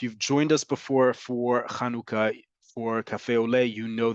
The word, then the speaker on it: Hanukkah: assimilate us into Oblivion it's important that we talk about pronunciation folks this holiday is kanuka I don't care how